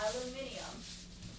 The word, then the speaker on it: aluminium: Say it like the British do. Aluminium. What'd you say? Aluminium. That's how you say it? That's how British people say it.